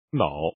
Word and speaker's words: 嫐: 脑，汉语汉字拼音为 n，脑比鸟多一层意思。康熙字典扰脑也，说明脑。